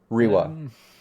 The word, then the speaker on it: Riva: Or Riva? Yeah. It's Riwa. Yeah, I think we were that one, yeah. Yeah, it's spelled with a V, but pronounced Riwa, I think, right?